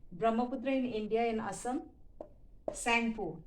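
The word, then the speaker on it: Tsangpo: in india in assam sangpo tea is silent t s-a-n-g-p-o sanko in china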